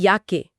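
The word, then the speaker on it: Jacke: या वर्ष को कहते हैं यार मतलब यार और युवा को युंग मतलब युंग और जैकेट को जैके यानी याके ठीक है तो जे मतलब य साफ हो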